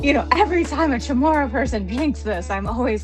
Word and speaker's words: Chamorro: I'm mispronouncing this, but people always tend to say, "Chamorro, what's that?" And I'm like, "Okay. Um it's Chamorro, but but yeah, I mean please come on in.